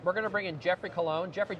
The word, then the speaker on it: Colon: gonna bring in Jeffrey colon Jeffrey am I pronouncing your last name right I only know you from the internet you're you are pronouncing it correct how you doing John